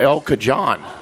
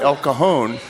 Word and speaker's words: El Cajon: the gentleman, I said, how do you get to El Cajon? He goes, well, sir, it's pronounced El Cajon.